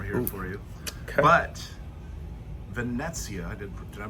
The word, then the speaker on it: Venezia: But Venezia, did I pronounce it? Yeah. Venezia, the Venezia.